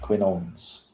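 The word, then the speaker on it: Quiñones: Quinones.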